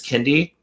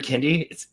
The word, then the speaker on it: Kiinde: But nonetheless, regardless whether it's Kiinde or Kiinde, it's such a good kit. I was saying it wrong for a while too.